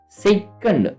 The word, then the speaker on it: Tso: जो लद्दाख का जो यहाँ पे हम मेंशंस करने वाले हैं उसको हम सो मोरीरी, सो का स्पेलिंग टी साइलेंस होता है, TSO।